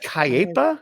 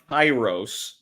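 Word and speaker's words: K8IROS: Not Kiepa or Kepa? No, it's pronounced Kairos, spelled K the number 8 IROS.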